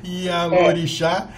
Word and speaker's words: Ialorixá: Ialorixá, Marileia Lasprilha de Ossumaré. Acertei?